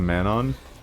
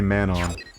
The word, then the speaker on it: Manon: I don't know why I call them mananon instead of manon. You know what? No, I do. It's really unnatural to say manon. It's like you're saying like man on hill, man on mountain.